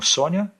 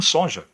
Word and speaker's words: Sonja: Ela tem uma origem ucraniana e por isso que seu nome depois escrito com J, em vez de Y, é pronunciado como Sônia e não como sonja.